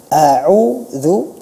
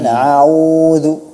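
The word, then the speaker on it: أعوذ: pada pelafalan isti'adzah a'udzu, perhatikan di sana ada hamzah, ada ain. Huruf yang pertama ada hamzah, yang keduanya ain, tapi yang saya dengar a'udzu, a'udzu. Dan ini banyak terjadi, ya, a'udzu terseret, ya, terseret. Malah yang diucapkan huruf pertamanya justru ain, ya kan, a'udzu. Padahal seharusnya diucapkan a'udzu, a'udzu.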